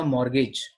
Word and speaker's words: mortgage: अगला है any endorsement on अ मॉर्गेज, मॉर्गेज की मॉर्गेज, तो टी साइलेंट होता है।